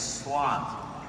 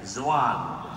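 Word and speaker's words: Xuan: My name is Swan. It's spelled X-U-A-N. But in the Vietnamese, Swan sounds sometimes X, not like you guys sometimes zwan, but it's swan, like S, right?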